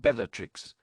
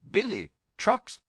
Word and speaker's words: Bellatrix: I'm pronouncing it wrong, Remus asked weakly, but I've always pronounced it Bellatrix.